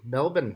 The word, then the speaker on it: Melbourne: Melbourne.